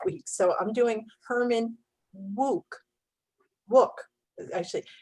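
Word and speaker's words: Wouk: so i'm doing herman wuke book actually it says it i always thought it was wow but it says it rhymes with rook like in pawn up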